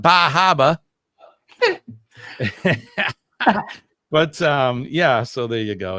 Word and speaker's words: Bar Harbor: I have to say it right. Bar Harbor, because in this part of the country we call it Bar Harbor.